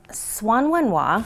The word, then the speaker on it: H'Suan Wen Hua: start with the classics this one is Swan one wah some people say Chihuahuan wah and that is okay but you'll hear all manner of pronunciations I say Swan like the bird when wah okay Swan win wow that's